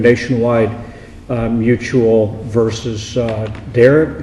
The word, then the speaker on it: Darragh: uh mutual versus uh derek is that how it's pronounced derrick yeah okay dara uh both sides will